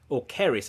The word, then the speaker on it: Ceres: Was it Rhiannon, Ceres, or Keris, I think it's pronounced. Keris. Yeah, it is Keris.